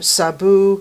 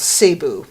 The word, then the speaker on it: Sabu: Although Epstein pronounces throne as trone because it's a New York accent thing, and the young actor Sabu he calls Cebu.